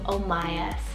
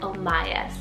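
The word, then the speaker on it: Omias: side an o name here is the name omayas spell o m i a s omayas isn't that just something and this one means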